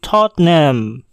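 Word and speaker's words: Tottenham: pada kata berikut ini banyak dari kita akan membaca kata ini dengan 3 suku kata yaitu toh tenham hohen HAM padahal sebenarnya hanya ada dua suku kata yaitu tot name hostname contoh lainnya yaitu pada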